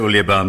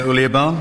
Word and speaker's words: Olaban: Ola Barn. It's actually field commander Olaban. But just Ulia Barn is fine.